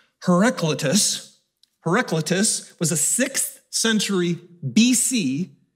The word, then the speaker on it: Heraclitus: Heraclitus was a 6th century BC, before Christ, philosopher.